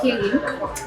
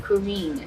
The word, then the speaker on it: Karine: Et non, c'est Kérin. Kérin? Yes. Ça prononce en anglais ou bien ça? Ouais, c'est Kérin. Anglais, c'est Corinne.